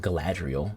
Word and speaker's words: Galadriel: in you know gladriel was I said Glenn Galadriel there's no ant in there I should know how to pronounce her name because the sugar whole bunch